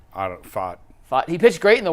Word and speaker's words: Pfaadt: Brandon Pat. How do you pronounce that, Jason? Fought.